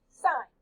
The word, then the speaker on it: sine: these ratios is known as the sine ratio pronounced sine this is the ratio of the length of